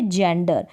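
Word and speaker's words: gender: अगर जी के बाद में ई आई और वाई आ जाएगा तब हम जी को ज पढ़ेंगे, जैसे कि यहाँ पर है जेंडर, जी के बाद में क्या है, ई है रूल के अकॉर्डिंग।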